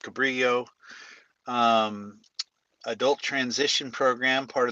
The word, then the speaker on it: Cabrillo: Paul is at the, we call it Cabrillo. I guess it's supposed to be pronounced Cabrillo.